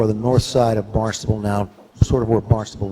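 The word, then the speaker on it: Barnstaple: Ours is Barnstable, and theirs is Barnstable. They originally spelled it with a B. Now they spell it with a P. We haven't gotten there yet, but that's our sister city in England, Barnstable, pronounced Barnstable.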